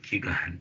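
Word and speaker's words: Qui-Gon: like setup where Obi-Wan and how do you pronounce the name kugan kugan yeah yes okay so so then they get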